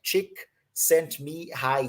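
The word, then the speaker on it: Csikszentmihalyi: or even like this how am i going to pronounce this guy's last name well thank god for some people who transcribed using my prior knowledge like chick sent me high e so chick sent me high me high cheek sent me high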